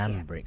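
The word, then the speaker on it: Sanbreque: Sandbrick. So that's how you pronounce it.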